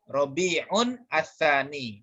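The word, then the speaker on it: ربيع الثاني: Sebenarnya bacanya Rabi'un al-awwalu. Rabi'un ats-tsani.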